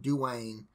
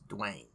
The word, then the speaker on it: Dwayne: Okay, my name is Dwayne. It's not Dwayne. It's not Dwayne. It's not Dawayne. It's Dwayne. It's one syllable.